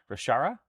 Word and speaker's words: Rashara: I used Nuln oil on her gun and metallics and the dark parts, but Chara is pronounced like a soft sh, like chef, so Rashara?